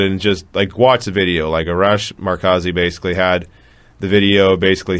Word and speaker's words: Arash Markazi: Arash Markazi? Is that how you say it? Yeah, Arash Markazi.